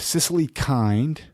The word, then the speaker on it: Cicily Kind: We're chatting with Cicily Kind. Yeah. I pronounced it right?